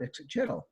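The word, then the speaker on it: Ixitxachitl: Because one of the old grognards said, wait a moment, that's not how it's pronounced. It's pronounced Ixitchitl.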